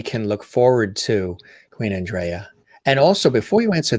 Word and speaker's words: Andreyah: In the mid 90s, people were calling me Andrea, And my mother told me she named me Andrea, but the real pronunciation is Andrea, Andrea.